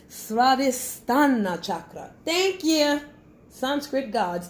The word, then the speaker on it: Svadhisthana: The Svadhisthana chakra. Hey, I said it wrong. Svadhisthana chakra.